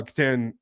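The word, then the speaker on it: Kitan: Um, then we came back with uh Katan Katon. He actually pronounces it Katon. I'm sorry if I've been saying that wrong.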